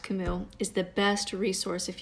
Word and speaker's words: Camus: and equally dangerous Camus Albert Camus c-a-m-u-s pronounced Camille is the best resource